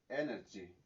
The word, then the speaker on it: energy: aquí de igual forma tiene el acento o el stress en la primera sílaba y se pronuncia tal cual, energy.